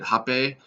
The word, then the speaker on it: Rapé: most often it's called repay or some people pronounce it ha pay and it has a bunch of other different tribal names but I usually call it rap a and Rob a is